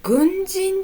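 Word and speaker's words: 軍人: これ、軍人と読みます。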